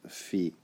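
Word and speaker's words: phi: dot for link PC I use the Greek pronunciation fee since this is not an English character so let's begin by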